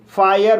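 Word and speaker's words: fire: जैसे एफ को फ पढ़ा जाएगा। आई को आई आ पढ़ा जाएगा। आर को रा पढ़ा जाएगा। और ई साइलेंट रहेगा। इस तरह से इसे फायर पढ़ेंगे।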